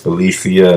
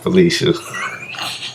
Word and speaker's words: F3LECIA: My name is Felicia. Not Felicia, not by Felicia. It's Felicia. Okay. Just had to make sure we cleared that up. So it's Felicia, not Felicia.